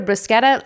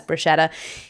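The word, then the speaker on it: bruschetta: order a brusa or I'm going to say either brusketta I'll say the c or even Bretta because I know in America we often you know pronounce it incorrectly as Bretta but if I'm in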